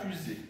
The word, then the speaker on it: fusée: Ce qui est important ici, c'est le S, où on entend Z.